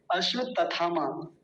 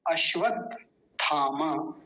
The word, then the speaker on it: अश्वत्थामा: पता है क्या बोलते हैं हमारे यहाँ पे? अश्वत्थामा, तथामा बोलते थे। अश्वत्थामा बिल्कुल गलत उच्चारण है इस नाम का। अश्वत्थामा ये शुद्ध उच्चारण है।